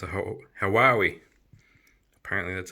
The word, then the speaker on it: Huawei: It's a Huawei. Apparently that's how you say it. Say it like Huawei.